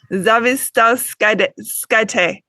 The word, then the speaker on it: Zavistauskaitė: Zavistauskaitė.